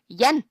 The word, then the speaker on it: Jan: But here it's So with it being a boy's name, it'll be Jan. yeah. But not many can pronounce it in Danish because Jan. But you can. Jan, That's yeah. awesome. Jan. Like the month So you see, I do January.